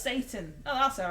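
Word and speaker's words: seitan: It's pronounced Satan.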